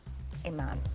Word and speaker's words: Amon: Local professional matchmaker Amon. Amon. Amen. Dang, I said it right this time. I always worry about your name. Amon is her name. She even said, like, amen.